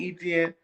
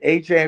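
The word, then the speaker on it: Achane: I'll say ETN. Shit, A-Chain. If he want me to say it, I'll say A-Chain. But that shit, man, that shit sound like ETN. I know it's a Louisiana pronunciation, so I respect the brother out of A-Chain.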